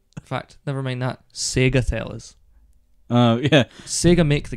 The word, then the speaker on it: Sega: No, because you said Sega. It's Sega. The Sega Mega Drive. Sega. It rhymes.